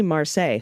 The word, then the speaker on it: Marseille: you ever go to marsai i meant to tell you that you pronounced it like versailles when it's simply marseille see i did it